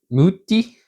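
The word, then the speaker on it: Mutti: So then I'm covering this with some muti, and that's how you pronounce it, it's Italian, pizza sauce.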